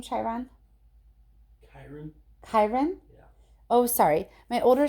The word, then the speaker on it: Chiron: Chiron?